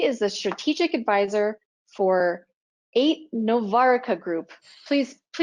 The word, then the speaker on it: Aite-Novarica: And with more than 45 years of information security experience, he is a strategic advisor for Aite-Novarica Group. Please correct my pronunciation of that, Joe. It's Aite-Novarica Group.